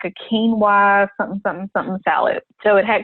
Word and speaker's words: quinoa: The quinoa is spelled Quinoa. Looks like quinoa, but quinoa. It's quinoa.